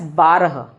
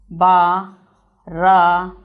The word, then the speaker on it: बारह: Number 12 is pronounced as बारह. Exactly, 12. बारह.